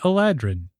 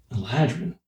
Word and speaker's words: Eladrin: See, whereas I've always said Eladrin. Really? Eladrin. Interesting. I'm with you, Vin.